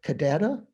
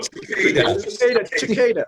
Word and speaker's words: cicadas: If you put your finger on the top of a little beetle, or right now, I'm not sure, cadada? Not cadada, how do you say it? I also pronounce it like I did when I was a kid.